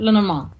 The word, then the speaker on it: Lenormand: Is it Yes, Lenormand? Lenormand. Okay, that's right. There's so many different ways I've heard them say it, Yeah, pronounce it.